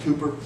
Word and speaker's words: Cowper: Sometime during the 1700s, William Cowper, I wanted to pronounce his name Cowper, C-O-W-P-E-R, but according to the dictionary, it's pronounced Cooper.